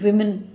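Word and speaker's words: women: பட் அந்த ப்ளூரலில் இருக்கிற WOவை நம்ம WI இருக்கிற மாதிரி ப்ரொனவுன்ஸ் பண்ணணும்.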